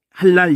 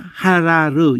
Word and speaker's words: 할랄: 느끼셔야 되는데, 이게 그냥 원래는 할랄 이렇게 하는 게 맞아요. 그렇지만 그냥 모든 특히 엘이 그러는데 그냥 하라르 이렇게 하세요. 그냥 우선 기본을 그렇게 하다 보면 리을 발음 자체가 받침도, 지금 이게 받침이라는 건데 사실은 이거 아무 것이 없다는 거는 할랄이 맞아요. 근데 이거의 원 개념이 분명하다는